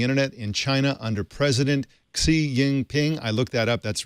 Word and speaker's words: Xi Jinping: We've been telling you for months about growing restrictions on the internet in China under President Xi Jinping.